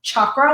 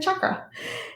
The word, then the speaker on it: chakra: It's actually pronounced chakra with a hard CH. So if you're saying it, chakra.